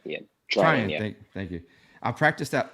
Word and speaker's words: Treinen: Treinen? Yeah. Treinen.